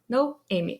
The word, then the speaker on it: Noemi: But for whoever doesn't know how to pronounce my name, I'm always going to Amy with no in front. No Amy.